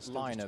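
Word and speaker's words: Laine: I know the Finns pronounce this Liner, but I think to us it reads Lane, but we'll go halfway between the two.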